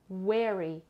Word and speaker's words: weary: بچه یه لغت تو درسه قبلی 504 بود، این لغت که بهتون گفتم weary تلفظ میشه. Very, no, very یعنی خیلی.